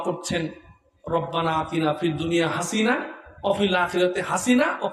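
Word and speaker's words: حسنة: অর্থ হলো আল্লাহ দুনিয়ায়ও হাসিনাকে আমারে দাও, আখিরাতেও হাসিনাকে আমারে দাও, সুবহানাল্লাহ নাউযুবিল্লাহ। অর্থটা না জানলে, উচ্চারণ ভুল হলে কত বড় মারাত্মক সমস্যা হয়। আমি তারে শিখাই দিলাম ওখানে হাসানা বলতে হবে। উনি এরপরে রব্বানা আতিনা ফিদ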